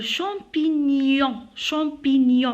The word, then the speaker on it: champignon: Le champignon, on ne dit pas champignon, on dit champignon. Alors, GN avec N se prononce comme le Y, ya, champignon, voilà.